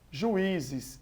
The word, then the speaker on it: juízes: Juízes, nós temos aí o i como a tônica, então também é uma paroxítona.